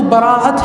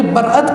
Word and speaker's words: براءت: اصل تلفظ اگر دیکھا جائے تو براءت ہے، لیکن اس میں تخفیف کر کے برأت کہہ دیا جاتا ہے. ہم جو کہتے ہیں برأت یہ تخفیف کے طور پر ہے، لیکن اگر ہم تخفیف